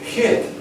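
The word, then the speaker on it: jit: And J-I-T, hit, doesn't do so exactly, because the J sounds like the German or Hebrew CH, right?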